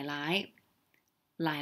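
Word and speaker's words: 奶奶: Okay, remember, get those tones right, because basically it's the same character, Lai Lai, but they're pronounced differently. The first one is low, Lai Lai, right? So Lai Lai, okay? And you'll notice there's an N there, but most people, they use L for N, so it's Lai Lai.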